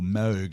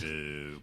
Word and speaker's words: Moog: Um I'm not sure whether he had the Moog synthesizer or Moog as it's pronounced Moog.